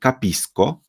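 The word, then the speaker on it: capisco: czyli rozumieć i mamy kisko Czyli ja rozumiem Czyli tutaj c jest przed o więc wymawiamy jako ko ale ty rozumiesz to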